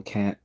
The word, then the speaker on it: Kant: Some people say Kant, some say Kant. Even though he was a German philosopher, his family background is actually from England, so they pronounce the name Kant. So you can say Kant or Kant, but they would have said the name as Kant.